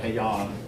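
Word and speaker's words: Heian: wor the Nar period the hean period uh pronounce that hon hon period but I do want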